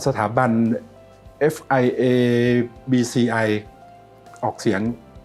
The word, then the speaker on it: FIABCI: ฟิตเนส ก็ ได้ นะ ครับ ก็ สถาบัน fia bci ออก เสียง ซ นะ ครับ ก็ เป็น สถาบัน